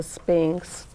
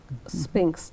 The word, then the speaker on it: Sphynx: about a sphinx cat it's spelled SP y NX not SP I NX as most people will spell the word Sphinx so you have to